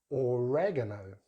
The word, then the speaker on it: oregano: So in British English, oregano, oregano, with stress on that gar, that third syllable, oregano, oregano. Americans use some very different sounds there. They start with the oregano, oregano, with stress on that second syllable.